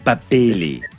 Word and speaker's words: Babili: So it is Babili. Babili. No, not Babili. It's Babili. Babili.